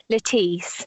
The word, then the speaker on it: Lettice: such a powerful story do you pronounce her name lettuce or letis Leti it's Leti so it's a shortened form of Leticia which was the Latin word for happiness and we learned so